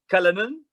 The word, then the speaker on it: Cullinan: Cullinan.